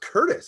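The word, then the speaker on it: Courtice: bud are you in quartus still yeah uh curtis but yeah oh it's pronounced curtis i don't know yeah no no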